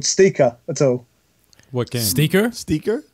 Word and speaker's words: ST1KA: Are you familiar with a Portuguese gentleman called Steaker at all? What game? Steaker? Yeah, What? it's spelled ST1KA.